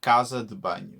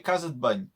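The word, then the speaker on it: casa de banho: butcher go so you in in the traditional portuguese accent on the star uh casa de bany right but in the algarvean accent you say kazutban yeah so you cut the the e out of the d in in between the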